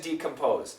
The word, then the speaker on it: decompose: the pronunciation again decompose now many times in American English we don't say d we don't say d we don't say re we say d b r however in this word decompose always say the D okay all right so